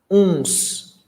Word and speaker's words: uns: And pay attention to pronunciation. It's nasal. Uns, uma, umas. Okay, so it's very, very nasal.